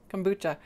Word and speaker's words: kombucha: start making it so it's kombu like a scare boo ghost kombucha um and that's just